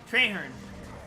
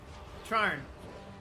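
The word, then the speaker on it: Trahearne: cutscene and I don't remember how his name's pronounced. Yeah, that's right. Treherne. No. It, I found a new way to win. Treherne. Outstanding. Yes. Trarn.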